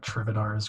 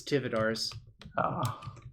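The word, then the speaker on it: Tivadar: Is it like Trividar's Crusade or whatever? Oh, you were so close to saying it correctly. It's Tividar's. Because Tividar Thorn is in Time Spiral.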